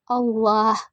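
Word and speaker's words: الله: Yang ketujuh Allah. Hukumnya tafkim karena lafaz Allah didahului oleh huruf hijaiyah berharakat dhammah. Cara membacanya tebal.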